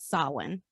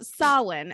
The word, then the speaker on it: Samhain: like samhain s-a-m-h-a-i-n but when i google the pronunciation it's actually called sawin which is you know which is very irish yes yes yes so sawin okay which is celebrated on the night of